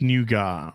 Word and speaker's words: nougat: for me uh uh well it's like nugget it's really it's spelt like nugget but it's pronounced nougat it's it's nougat this